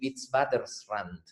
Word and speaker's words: Witwatersrand: en Sudáfrica, que tienen este nombre raro aquí, Witwatersrand, que es impronunciable, casi así que la gente le dice el WITS, nomás como W-I-T-S para contraerlo y poder pronunciarlo.